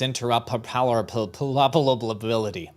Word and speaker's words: interoperability: Here's the correct pronunciation from the audience. Thank you. It's interoperability. Perfect.